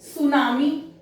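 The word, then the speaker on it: tsunami: सुनामी में T silent है, तो जब इनिशियली T और S आता है तो इंग्लिश जो हमारी इंग्लिश लैंग्वेज में शुरू में TS साउंड नहीं है, दैट्स व्हाई यहां पर T को साइलेंट कर दिया, लेकिन अंत में है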